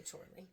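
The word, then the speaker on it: Chorley: sure Doug Bower and Dave chle I hope I'm pronouncing that correctly spelled like Charlie with but with an O I would say Charlie um so anyway 1976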